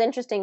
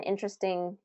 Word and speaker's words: interesting: So that's an interesting pronunciation for that one. Not vegetable, vegetable. We don't want to do that. We want to do vegetable, vegetable. Interesting, interesting. First syllable stress there.